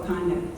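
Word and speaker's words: Wauconda: It's in a place called Wakanda. So it's spelled different than the other Wakanda. W-A-U-C-O-N-D-A.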